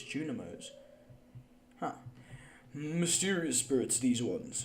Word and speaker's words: Junimos: I've been pronouncing it wrong the whole time. I've always thought it was Juminos. It's Junimos.